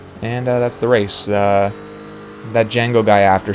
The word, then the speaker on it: Django: Just a proper class act to Django. I know the D is silent, but I just want to drive that home.